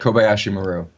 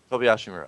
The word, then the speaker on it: KobayshiMaru: guy, and I try, but how do I pronounce that? Tell me. KobayshiMaru. KobayshiMaru.